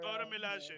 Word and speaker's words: Dora Milaje: How do you pronounce it? Dora. Dora Milaje.